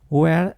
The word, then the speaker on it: We're: We're at the airport. Incluso esta palabra se pronuncia de forma débil y muy rápida.